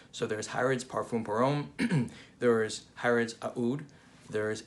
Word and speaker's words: Aoud: now i pronounce the aoud the a in aoud some people just say ud but i think this is the more middle eastern appropriate way of saying it so before we get